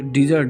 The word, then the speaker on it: dessert: एक होता है DESSERT, डबल एस यहाँ पर हो जाता है, तो डिजर्ट।